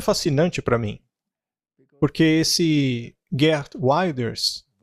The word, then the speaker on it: Geert Wilders: Isso também é fascinante para mim, porque esse Geert Wilders é o jeito certo de pronunciar, ele é anti-muçulmano.